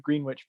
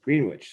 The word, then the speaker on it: Greenwich: the village voice and i'm like well what village it was like greenwich so later i'm visiting and they're like no dude everyone says greenwich it's just the way it is it's like there's